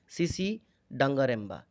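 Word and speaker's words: Tsitsi Dangarembga: इनका नाम है, देख लीजिए दोबारा, सीसी डंगारेम्बा। इनका प्रोनाउंसिएशन ऐसे ही होता है।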